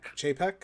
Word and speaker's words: Chapek: This is the new Disney CEO, Bob Chapek. We're looking... Chapek? Chapek?